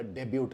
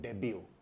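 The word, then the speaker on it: debut: होता है तो हम कहते हैं कि उसका डेब्यू हो गया या डेब्यूट हो गया। ये प्रोनाउंसिएशन भी गलत है, इसको बोला जाता है डेब्यू।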